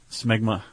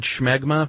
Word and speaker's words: smegma: Smegma.